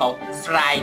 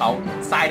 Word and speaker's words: ทราย: เขา ทราย แดง ครับ ทราย ตัว นี้ ครับ มี ร เรือ นะ ครับ แต่ ว่า ไม่ ออก เสียง ร เรือ นะ ครับ ไม่ ใช่ ภู เขา สราย แดง นะ งั้น ผิด